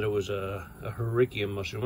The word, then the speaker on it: Hericium: it was a a herikium mushroom i have a tendency to pronounce it that way but i think most people pronounce it harissium you know but it's